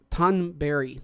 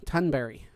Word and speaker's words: Tonberry: Tunberry. Tunberry.